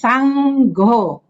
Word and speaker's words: Saṅgha: with the p phonetics the N with the dot on top is already s s so s a n g is s then g h o is another syllable so it's Sango okay brotherly so s